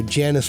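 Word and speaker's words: Janus: It's called Enter the Huntress by Janice Black. That's spelled j a n u s.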